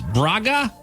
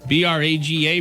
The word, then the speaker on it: Braga: Let's see if I can pronounce this. Braga, B-R-A-G-A, Braga.